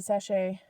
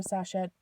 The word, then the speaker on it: sachet: and I'll make a sachet or Sasha I've heard it pronounced both ways I'm never quite sure I put either a